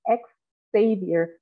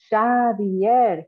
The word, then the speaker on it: Xavier: People comment on his accent, mispronounce his name, call him ex-savior as if he had fallen from grace and could not be redeemed. Xavier, he says, over and over, it's Basque, but they think Basque is a painter.